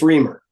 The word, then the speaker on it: Reamer: I get this right is it pronounced raar or reer or how do I pronounce your last name it's reamer reamer okay thank um all